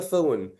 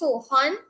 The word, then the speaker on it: Sohn: At this point in time, we invite the first speaker from their opposition, Sohn, to open the case for Holy Faith Convent Penal. Good afternoon. Surname is pronounced Sohan.